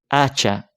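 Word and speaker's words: hacha: same with the word acha ax acha starts with um a consonant the H however remember that in Spanish H is a letter which is mute completely mute so when I when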